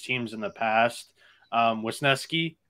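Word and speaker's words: Wesneski: in the past um wisnesky is the way to pronounce it I looked that up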